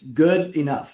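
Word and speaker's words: Goodenough: But uh it's it's it's good enough like something is good enough, but it's together.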